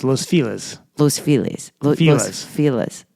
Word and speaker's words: Los Feliz: time in Los Angeles, I have been mispronouncing my favorite neighborhood for many years. And, I feel really bad about it. And from now on, it will no longer be Los Feliz. It'll be Los Filas.